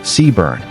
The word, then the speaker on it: CBRN: The unit is commonly referred to as Sebran, pronounced Seaburn, as an abbreviation, and their members have